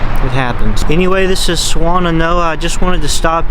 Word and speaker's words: Swannanoa: A lot of people in the area I've heard pronounce Swannanoa as Swannanoa. That is incorrect. It is pronounced Swannanoa. Swannanoa, which admittedly, I'll admit, Swannanoa, much stupider name.